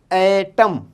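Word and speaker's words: ایٹم: जब किसी भी लफ्ज़ के शुरू में ए साउंड आए तो उसका जो यूज़ है वो इस तरीके से है यहाँ पे, एटम, अलिफ ये टे meme, एटम, एटम, एटम means एटम, small particles, okay, एटम।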